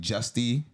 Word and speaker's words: Juste: You know, Juste. I pronounce it like Justy sometimes.